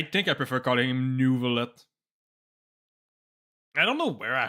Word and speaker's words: Neuvillet: If I were to pronounce his name with like the most like French accent I could do, it'd probably be like Neuvillet. Not a Nervillet. This is like a mix of French and English accent. It's not entirely French and not entirely English. It's right in the middle. The way that they pronounce it. But the R is weird.